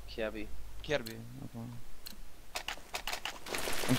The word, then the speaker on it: Kjaerbye: How is it right to pronounce your nickname? Dennis, it's Kjaerbye.